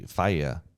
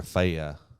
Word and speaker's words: Faye: Yeah, so, like my grandmother, her name was her last name was Faye, but in Norway it was actually Faya, or Faya is how it's pronounced.